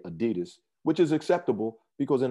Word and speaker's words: adidas: and his last name was dossler d-a-s-s-l-e-r so adi das is what it is so pretty much mostly only americans say adidas which is acceptable because in america that's what